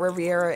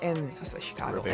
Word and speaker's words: Rivera: King actually spent time working with Riviera in Chicago. Rivera. In Charlotte. Oh, my fault. Riviera. Rivera. I want to add the extra syllable in there so bad. Rivera. There you go. There it is.